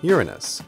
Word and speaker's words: Uranus: The alternative pronunciation of the name which goes Uranus.